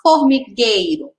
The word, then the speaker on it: formigueiro: Vamos falar formigueiro. Isso. Tem o I, ó. Tem a letra I depois do E.